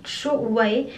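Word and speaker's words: Jowaé: Et en fait, ils avaient pensé à préciser que ça se prononce Jowae et que c'est né du besoin essentiel de rétablir l'équilibre vital de la peau face aux agressions quotidiennes.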